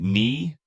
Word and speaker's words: knee: Take knee, that K up front isn't doing any work at all.